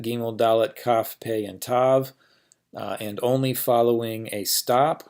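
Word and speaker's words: ת: And then finally tav, and these days tav is pronounced like a T in any position.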